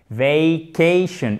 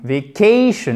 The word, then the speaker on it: vacation: Et derrière, la deuxième syllabe qui est accentuée, ok? On a la même diphtongue, vacation, mais par contre accentuée, ok? Donc ça monte comme ça, petit replat et on redescend. Vacation, ok? Vacation.